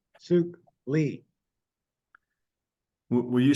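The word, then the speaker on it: Suk: Young Sook Lee. Will you spell that, please?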